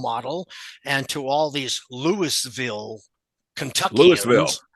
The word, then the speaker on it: Louisville: Yeah, John came in because I was the role model, and to all these Louisville, Kentuckians, Louisville, which is how prototype pronounced it as well.